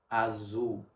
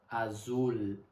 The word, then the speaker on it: azul: Aqui você aprendeu alguns vocabulários, aprendeu um pouco de pronúncia, como o final das palavras que terminam com L. Lembra? Azul, não azul. Azul.